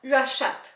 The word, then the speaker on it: Uashat: Je viens de le regarder puis j'ai tout le temps le goût de rajouter une coupe de syllabes, Uashat, ouais c'est ça, U-A-S-H-A-T, Uashat.